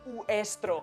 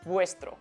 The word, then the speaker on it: vuestro: Y si vemos esto, no vamos a decir estro, vamos a decir vuestro.